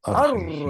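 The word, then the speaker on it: الرَّحِيم: This goes into, so the alif lam, you don't pronounce the al, right? So you go Ar-Rahman. Oh, yeah. Okay, Ar-Rahman. Ar-Rahman. Ar-Rahim.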